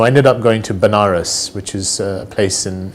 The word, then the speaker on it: Banaras: So I ended up going to Banaras, which is a place in India, sometimes pronounced as Vanaras, which is a place